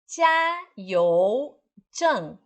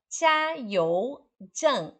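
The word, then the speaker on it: 加油站: Jia, J-I-A, J-I-A, Jia, e You, Y-O-U. Y-O-U, You. Então, Jiayou-zhang é um posto de abastecer óleo.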